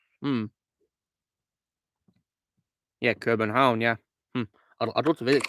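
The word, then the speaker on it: København: isn't it does it begin with K Patrick pronounced hmm yeah Corbin home yeah I'd love to visit the pronunciation oh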